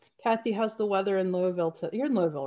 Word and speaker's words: Louisville: I was just going to ask, is it Louisville or Louisville? Because I've heard it both ways. Louisville is really the way you pronounce it, but right, I'm trying to go